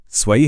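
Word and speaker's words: zwei: चलिए वापस स्वई पर चलते हैं। यहां डब्ल्यू की आवाज वी जैसी है। इसीलिए यह स्वई है।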